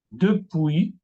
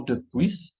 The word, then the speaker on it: depuis: Acá son los pronombres personales, no se pronuncian la S. Palabras como repas, la comida, repas, y no repas. Depuis, y no depuis.